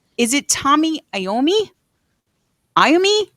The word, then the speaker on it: Iommi: Is it Tommy Iommi? Iommi? How am I supposed to? Yeah. That's right. Tony Iommi.